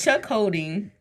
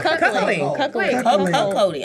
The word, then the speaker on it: cuckolding: Chuck holding. Oh, cuckolding. Cuckolding. Oh, there's no H in there, right?